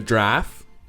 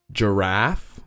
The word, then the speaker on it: giraffe: it's two syllables and sometimes you're saying the word draft but without the tea that's how it's said